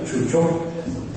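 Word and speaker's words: ชูชก: interesting phenomenon of amulets, of Jujaga, as we would say, Nick pronunciation, or Chucho, Thai pronunciation, who in some cases is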